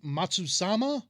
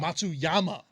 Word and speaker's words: Matsuyama: green jacket winner we we do uh hideki matsusama tsuyama matsuyama there we go come on jordan climac come